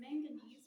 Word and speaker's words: manganese: The blackish purple color comes from manganese, which a fun way to remember that is it rhymes with mac and cheese.